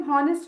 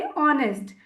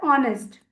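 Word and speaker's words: honest: ऑनेस्ट pronunciation पे भी ध्यान दीजिएगा, इसे हम हॉनेस्ट नहीं बोलेंगे, ऑनेस्ट। ठीक है, एच साइलेंट होता है, ऑनेस्ट।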